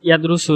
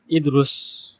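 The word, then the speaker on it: يدرس: আঞ্চলিক ভাষায় বলে যেমন ইয়াদরুসু না বলে ইদরুস তাদরুসু না বলে তিদরুস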